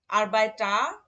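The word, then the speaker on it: Arbeiter: হ্যাঁ, তাহলে যখন শব্দের শেষে এ আর থাকবে তখন তার উচ্চারণটা কি হবে, আ হবে। যেমন আ লেহেরা, আরবাইটার, লেহেরার, আরবাইটার মানে হচ্ছে শ্রমিক, লেহেরার মানে শিক্ষক।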